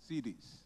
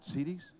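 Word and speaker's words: cedis: CDs? Am I saying it right? I'm not. CDs.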